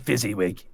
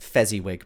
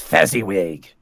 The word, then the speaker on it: Fezziwig: inside and gone downstairs and we can't fight fizzy wig anywhere and he was last seen speaking to hack lists it's pronounced Fezziwig by the way it's Fezziwig thank you did did fizzy with just a